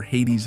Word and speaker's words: Hades: Hades, or Hades as it's pronounced in English for some reason, was the king of the underworld and the god of the dead.